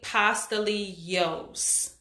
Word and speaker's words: pastelitos: people say wrong but it's definitely pasta Lee Yoos pasta Leo's you're saying it wrong with me Maria